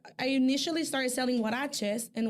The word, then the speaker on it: huaraches: So I was like, I initially started selling huaraches, and huaraches is spelled with the H, the H sound.